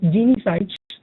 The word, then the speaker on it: Genie Sites: It should be pronounced as Genie Sites. So there's the Genie giving sites to the companies.